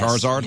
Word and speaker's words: Charizard: Is that how you say it? Yes, Charizard? Yes, of course.